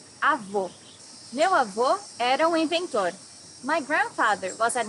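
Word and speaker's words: avó: Paloma here welcome to top 10 hardest worst pronouncing Portuguese Avo grandmother you need to hear the sound of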